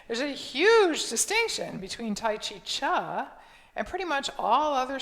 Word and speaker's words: T'ai Chi Chih: as tai chi cha the third word is pronounced cha although it's spelled c-h-i-h you'd think it might be pronounced tai chi chi but it's tai chi cha and if you were